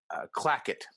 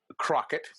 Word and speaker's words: Clackett: carol burnett's character um her name is uh mrs clackett but it's mispronounced seven times that takes work mrs crockett mrs clockett mrs crackit mrs blackit this is